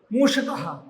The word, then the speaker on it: मूषक: बेटा चूहा है ना मूषक मूषक मशका ये देखिए मुर्धन्य स है इसका उच्चारण कैसे करेंगे श श मुर्धा से इसका उच्चारण होता है मूषक मूषक मसका है ना